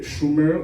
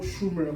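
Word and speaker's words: shomer: Dans le texte hébreu, ce terme, c'est le mot Schumer, c'est S-H-O-M-E-R. La prononciation en hébreu, c'est un peu compliqué, Schumer, quelque chose comme ça.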